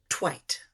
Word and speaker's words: Tveit: t v e t it's Norwegian and it's pronounced twight so that's why Eric